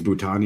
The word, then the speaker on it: Bhutan: I'm not sure how you pronounce it. I think it's Bhutan or B. It's Bhutan.